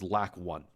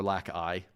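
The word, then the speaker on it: lacI: The other thing that's in here, and that's really important, is this thing that says LAC1 or LAC-I, depending on how you want to pronounce it.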